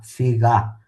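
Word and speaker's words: figà: Figa, figa. Si può dire che fegato adesso, proprio su vocabolario. Figa, mi raccomando l'accento sopra l'A, perché sennò parolaccia.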